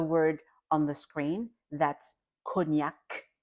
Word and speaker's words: cognac: The word on the screen that's cognac the c at the end is not silent.